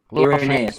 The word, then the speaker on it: Irenaeus: Irenaeus, but I correct my pronunciation.